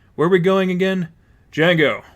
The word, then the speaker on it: Django: "Django, with a silent D."